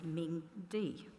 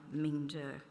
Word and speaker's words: Mingde: Unfortunately, around Toowoomba, we are sometimes known as Mingde rather than Mingde.